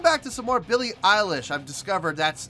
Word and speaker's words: Eilish: tonight we're coming back to some more billy eilish i've discovered that's how you act i've had several fans tell me you're pronouncing it right eilish so okay billy eilish